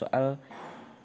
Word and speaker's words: soal: tanya sehingga ucapannya menjadi contohnya menjadi soal kan dalam ktas soal itu ada jedanya antara o dan a selanjutnya ada retrofleksi yaitu